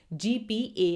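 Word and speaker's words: GPAI: on artificial intelligence की जीपीए I well इसे हम प्रोनाउंस कर सकते हैं शॉर्ट फॉर्म में जीपे वेल हमने कल की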